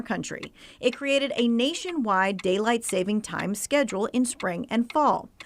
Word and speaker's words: daylight saving time: what is true about Daylight Saving Time DST daylight saving time